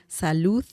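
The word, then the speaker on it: salud: meor better sal sal don't forget the the sound at the end Salu Salu means Health okay similar to saying Health the sound it's very similar to say to the d in Spanish Sal okay very it's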